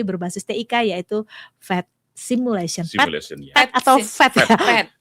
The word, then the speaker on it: PhET: PhET atau PhET ya. Tulisannya PH, tapi ternyata bacanya PhET. PhET ya. Oh, PhET bukan PET ya.